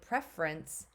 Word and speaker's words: preference: prefer um and then when I say preference I change it it changes to a short e sound it's no longer um